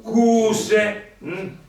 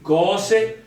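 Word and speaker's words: cöse: Perché la pronuncia è O, altrimenti se io ci mettessi il circonflesso la pronuncia diventa cuse. Quindi cose, fase, fase, fase.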